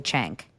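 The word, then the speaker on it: Cenk: like that's inappropriate, but his name is literally Chank. C E N K.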